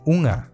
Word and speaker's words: unha: También aparece en las palabras derivadas de “unha”, y se escribe así, con <nh> Si te cuesta, repite la palabra “unga”, y poco a poco le vas quitando la <g> Y esto es todo